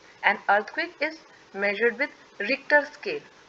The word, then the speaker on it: Richter: And earthquake is measured with रिक्टर scale.